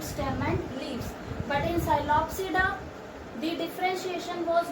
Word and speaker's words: Psilopsida: Psilopsida, Lycopsida, Synopsida, Pteropsida. P is silent.